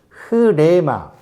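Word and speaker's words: ῥῆμα: 이게 이제 흐라는, 발음이 흐라는 발음. 그래서 발음할 때, 흐레마, 애라기보다 이게 작게 하기도 하고, 흐레마, 이렇게 이제 언어 살려서 발음하면 이렇게 되는 건데, 굳이 그걸 할 필요가 없어요. 그냥, 네마라 해요.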